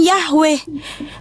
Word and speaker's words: Yahweh: Mesianik Arab, Mesianik Belanda, Mesianik Jerman, Mesianik Amerika, mau seluruh dunia ini tetap memanggil namanya Yod-Heh-Vah-Weh yang dilafalkan Yahweh, bukan jadi Allah.